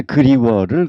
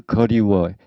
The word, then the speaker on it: 그리워: 여하튼 기본적인 게 그리워를 거리워, 했으면을 했으면, 이렇게 절대 그렇게 발음하지 마라 하는 거.